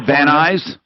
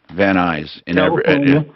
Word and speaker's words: Van Nuys: h-a-s-k-e-l-l that's in land noise and where van nuys fan noise i think he pronounced it uh n-u-y-s yeah van nuys van nuys california right yeah let me give you a zip to 91406.